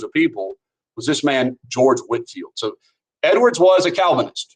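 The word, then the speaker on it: George Whitefield: the new denominations and that is pronounced Whitfield even though it's written like Whitefield and he traveled and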